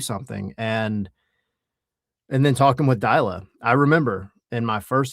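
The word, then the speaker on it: Deila: What were your thoughts on this massive influx of talent combined with I can't say his name right, Ronnie Delia? Ronnie Dyla, yeah. Dyla. Combine that with his first and only season.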